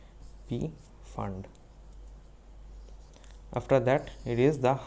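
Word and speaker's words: Pfund: is called p fund p is silent p fund after that it is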